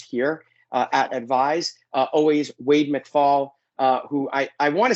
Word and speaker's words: McFall: Always Wade McFall, who I want to say Wade McFall because that's really how it's pronounced, but I keep getting reminded that it's McFall, but it's still going to be McFall because I'm a New Yorker and that's the way we speak.